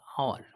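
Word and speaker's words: hour: দেখো আওয়ার, এইচ ও ইউ আর, এটার উচ্চারণ কি? আওয়ার, ঠিক আছে। তাহলে এইচ এর উচ্চারণ হচ্ছে না, কিন্তু ও এর উচ্চারণ মানে আও, ঠিক আছে।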